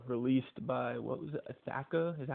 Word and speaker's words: Ithaca: you to be released by, what was it, Ithaca? Is that how you say it? Ithaca? What's that? How do you say the college? Ithaca College? Oh, Ithaca.